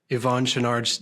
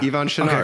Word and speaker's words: Yvon Chouinard: sure that I'm pronouncing Yvon Chouinard's name correctly. How do you pronounce it? How do you say it? Just like you did. You're doing great. Yeah. Yvon Chouinard.